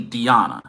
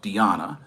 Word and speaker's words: Diana: It's actually Diana, not Diana. So it's Diana.